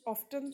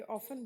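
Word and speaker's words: often: तो हम ऑफ्टन तो नहीं बोल रहे, ऑफन बोल रहे ना, तो टी साइलेंट है।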